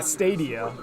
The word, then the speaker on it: Stadia: Stadia? Yeah, Stadia. Oh, Like is that how you say it? Yeah, it's like stadium.